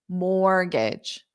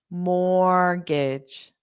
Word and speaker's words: mortgage: so I'll say it morgage morgage so here what's interesting is the T is silent which means it is there in spelling but it is not pronounced at all so this is very